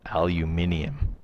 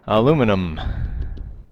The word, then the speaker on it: aluminium: okay or it's actually now supposed to be pronounced aluminium but I won't do it so aluminum because they've actually changed the spelling if you